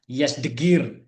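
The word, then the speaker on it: Yazdegerd: Penaklukan tersebut juga ditandai dengan berakhirnya kekuasaan raja terakhir Sasaniah Persia yang bernama A Ardas 1 B Yasdegir ya dibacanya Yasdegir ya.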